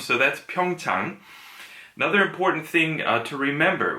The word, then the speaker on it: Pyeongchang: now I see it's Pyong tongue ah so pyoung Tong that's how it's pronounced so think of it as ah now I get it ah now I see so it's an AH